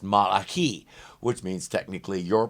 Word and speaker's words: Malachi: I know it's pronounced Malachi, which means technically your pronunciation is as wrong as mine.